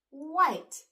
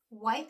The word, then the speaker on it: white: white is a color if you were spelling white you would spell it w h i t e but when you're reading it e does the walking and I does the talking okay let's get going